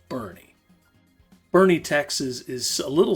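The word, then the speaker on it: Boerne: Yes, it's pronounced Bernie, Texas.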